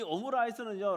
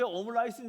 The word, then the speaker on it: 오므라이스: 이 오므라이스는요 라이스는 쌀 아닙니까? 이게 일본식 발음이에요.